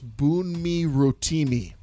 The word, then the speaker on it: Bunmi Rotimi: Practice your pronunciation. It's Bunmi Rotimi. Just heads up. Bunmi Rotimi.